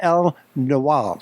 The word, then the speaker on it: El-Nawal: my guest is none other than chef/owner L know allah did i pronounce it crow yes you did great excellent